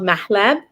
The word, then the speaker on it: mahleb: But why it's different is it's seasoned with this special, unique seasoning, and it's called mahleb. That's how you say it in Arabic.